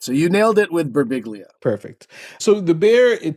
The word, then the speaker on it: Birbiglia: Italian people who would go, in Italy, it's pronounced Barbilia. And he'd be like, well, in America, you're annoying. So that's his response to that. So you nailed it with Berbiglia.